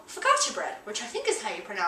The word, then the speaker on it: focaccia: Now, at this restaurant, they have this lovely, delicious thing that you can get called focaccia bread, which I think is how you pronounce it.